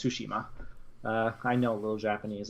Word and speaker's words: Tsushima: a ghost of Tsushima it's I don't dare pronounce that name it's it's Tsushima I know a little Japanese that's all reason